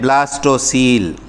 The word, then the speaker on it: ब्लास्टोसील: है, इसको बोलते हैं ब्लास्टोसील। सील की स्पेलिंग COEL, ठीक है, ब्लास्टोसील।